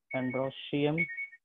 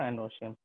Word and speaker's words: androecium: ठीक है, इसको हम लोग प्रोनाउंस करते हैं एंड्रोशियम। और इसको प्रोनाउंस करते हैं हम लोग गाइनोशियम। ठीक है, गाइनोशियम और एंड्रोशियम।